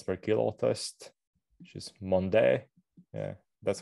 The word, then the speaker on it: Mende: 9-minute climb, watts per kilo test, which is Mende. Yeah, that's how you pronounce. Yeah, Mende.